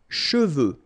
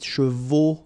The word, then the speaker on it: cheveux: Final X is not pronounced.